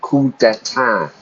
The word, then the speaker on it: coup d'état: In English, we use the French word, or the French expression, coup d'état. Notice how I pronounce it. I don't pronounce the P or the S. I really just say a coup, a military coup.